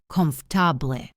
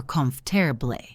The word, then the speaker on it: comfortable: It looks like it has 4 syllables, comfortable. But native speakers usually squeeze it into 3 or even 2, comfortable or comfortable. Practice that.